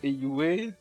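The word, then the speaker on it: Heiyue: Ou alors je disais tout le temps Eiyu quand j'ai fait mon let's play Zero no Kiseki, mais apparemment le nom de leur organisation ça se prononce bien Eiyue.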